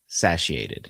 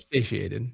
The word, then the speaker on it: satiated: Yes, my kink has been sachiated. Is that how you say it? Satiated. Satiated.